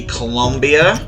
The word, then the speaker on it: Colombia: It would be Colombia, not Colombia. It's not spelled with a U. It's spelled with a second O. It's Colombia, not Colombia. Shares a border with every South American country except Chile and Ecuador.